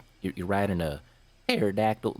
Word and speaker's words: pterodactyl: Plus, I'm pretty sure that if a boat in the sky is sinking, that'll be more like you're riding a pterodactyl. The P is silent.